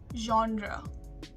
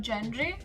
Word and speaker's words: genre: be asthma asthma but coming to the british pronunciation it is asthma she suffers from asthma coming to the 13th word genre genre not gendry or not john dre genre and number 14 jewelry jewelry her favorite